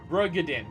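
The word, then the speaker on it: Roegadyn: I gotta learn enunciations and pronunciations with this garbage fucking accent that I have. Rogadin, but most players just say Ro for short.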